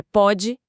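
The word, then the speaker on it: pôde: Pode, com acento, é passado. Pode, sem acento, presente. E a pronúncia já é diferente, né? O O fechado contra o O aberto.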